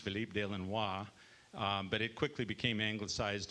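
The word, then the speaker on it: Philippe de Lannoy: is uh philip delano or as they say philippe de lenois that's how it's pronounced philippe de lenois but it quickly became anglicized to philip delano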